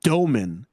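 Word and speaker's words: Dëmin: Like, I know Jaeger, Demine, I don't know how to. I think the broadcast, they pronounced it Doman. Like, that's how it's supposed to be pronounced.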